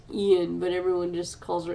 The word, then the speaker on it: Ayn: Yes, Ayn Rand. Anne Rice's books. First, Anne is Anne Rand. Her name, I think, is pronounced Ian, but everyone just calls her Anne Rand.